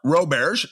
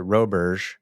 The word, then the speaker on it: Roberge: It's funny because my grandmother's pronounced it Roberge, but I grew up in hardcore Central Mass, driving north on 495, and went to undergrad with a heavy Boston accent, and everyone thought my name was Roberge. And so I just kept it. So, that's how I pronounce it.